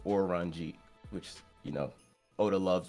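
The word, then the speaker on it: オレンジ: an orangey um because in Japanese that's how orange is pronounced or ranji which you know Oda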